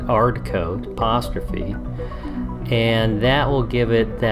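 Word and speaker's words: 'Ardcoat: I think we pronounce it hard coat, apostrophe.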